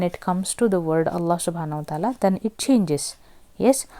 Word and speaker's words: Allah: comes in the word Allah so whenever you have got fat whenever you have got fatha Associated no like previous letter then the lamb is to be read pronounced heavily Allah okay if if that